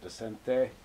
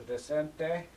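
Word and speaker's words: Descente: no doubt well anyway that's how i say it decente and i know there are different ways to pronounce it but this is the descent day and it's basically you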